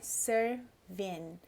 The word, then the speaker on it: serving: A gente nunca fala GS também ao final desse NG. Então é serving.